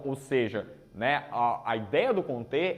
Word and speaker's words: Comte: A gente está começando pelo Comte, que é a pronúncia em francês, mas não tem, a gente tem liberdade, para falar, alguns falam Comte, ou, por ser francês, Comte.